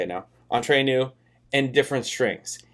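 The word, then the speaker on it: Entre Nous: you I know how to say it now entree new and different strings it's not that they're bad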